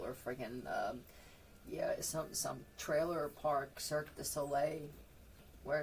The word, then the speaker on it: Cirque du Soleil: Somebody actually managed to veer off the road and drive into some carnival or friggin' some trailer park, Cirque du Soleil, where it's spelled SOLAY.